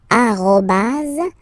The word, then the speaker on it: arrobase: the other one, so, officially, we called it arrobase, okay? But then, well, let's be honest, we can hear many French people or French-speaking people using this at, okay? But then the French were, of course, at, all right? But officially, it should be arrobase, okay?